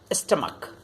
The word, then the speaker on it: stomach: There are some exceptions like stomach. The sound at the end is ka. Stomach, stomachs. Monarch, monarchs.